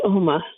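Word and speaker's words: Omagh: in a town called om in County terone over there and it's spelled om m h e h and the g is silent I call it a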